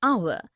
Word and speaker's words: hour: air an honest an hour because the words air honest and our begin with the vowel sound as the initial consonant h is not pronounced article 1 we use